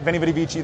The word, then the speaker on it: Veni Vidi Vici: And so we're able to put some acting with the correct pronunciation. But it's not easy. Winnie Woody Wiki. KMSI Concord. Right? Veni Vidi Vici, they say, but in Latin, you're not really